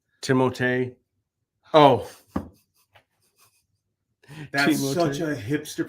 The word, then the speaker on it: Timothée: Okay, fun fact, it's pronounced Timothée. Timothée.